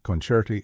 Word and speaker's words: concerti: Libretto is pronounced libretto, libretti is libretti, concerto is concerto, and concerti is concerti.